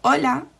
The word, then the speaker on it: hola: but if you hear we don't actually pronounce the h in words so for example the word hello where in english you can hear the hello the h we say hola and you can't hear